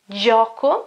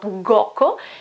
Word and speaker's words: gioco: Examples, gioco, gioco, it's game, okay, or play, I play, okay, gioco, it's not goco, because after the G I've got E, okay, gioco.